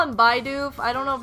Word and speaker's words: Bidoof: It's pronounced Bidoof.